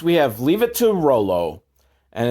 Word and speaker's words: Rollo: Up next, we have Leave It to Rollo, and it's spelled ROLL-OH. Roll-O.